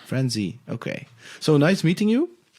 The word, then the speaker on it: Franze: how do you know how do you pronounce that is that france or franzi how are you yes sir frenzy okay so nice meeting